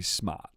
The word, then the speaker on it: smart: Like smart, right? You don't pronounce the R. The Americans pronounce the R. We don't. We're smart. S M A T.